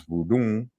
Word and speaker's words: Vodun: goon and away languages pronounce voodoon with a nasal high tone who also spelled vuldan